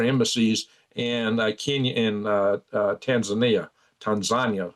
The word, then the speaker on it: Tanzania: in Kenya inh Tanzania Tanzania is proper way to say it, which were all taken out, bomb blown completely up by Iranian forces.